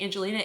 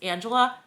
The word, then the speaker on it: Angela: I kept saying Angelina. It's Angela, but she's from Smosh.